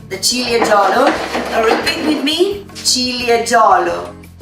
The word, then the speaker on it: Ciliegiolo: Repeat with me, Ciliegiolo.